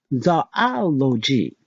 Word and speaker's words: zoology: As tempting as it is to pronounce the study of animals with the zoo sound by starting it with the zoo sound, that's actually not right. The beginning is pronounced zoh, Z-O-H, just like hello giggle.